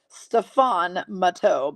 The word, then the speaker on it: Stefan Matteau: I said step on my toe, Connie. That's how I pronounced it. Stefan Matteau, but step on my toe.